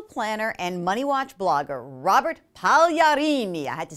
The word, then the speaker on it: Pagliarini: How was the pronunciation? You know what? I'm actually really impressed. Let's do it one more time. Pagliarini. Pagliarini.